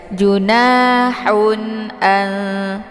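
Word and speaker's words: جُنَاحٌ: pedas ha haubah ya jadi jangan dibaca junahu ya tapi hau ditekan sedikit Haun a ada harakat tanwin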